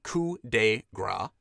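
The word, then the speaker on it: coup de grâce: weapon to deliver a coup de grace pronounced coo de gra cool to a helpless opponent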